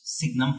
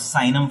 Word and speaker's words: Signum: is called Signum function we don't call it seinem function because sine is I'm definitely play with you know name has already been taken so we pronounce it as Signum function so what is the definition of signal